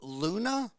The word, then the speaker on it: Luna: of vicious spiral so his name is pronounced luna yeah scott luna hell i've called him scott loon for 20 years i